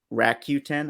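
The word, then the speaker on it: Rakuten: full name and then rack Q10 I think is how you pronounce the third one it's r-a-k-u-t-e-n so um let me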